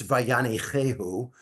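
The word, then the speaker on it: וַיַּנִּחֵהוּ: First of all, a point of clarity, I did mispronounce the term. The word is God, when God settled, it's Vayanichehu, which I was a little bit off in that.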